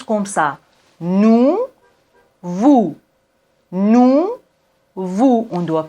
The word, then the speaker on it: nous: il elle elle nous nous elle on ne prononce pas le S plus réel et maintenant